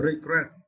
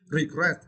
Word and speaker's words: regret: verb right uh uh regret and for this words you need to St the second syllable gret gret regret regret okay Fe have never regret